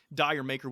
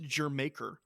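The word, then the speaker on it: D'yer Mak'er: We move on to Four Sticks versus Dire Maker, which actually I found this out. Actually, phonetically, it's pronounced Jermaker, so it's Jamaica.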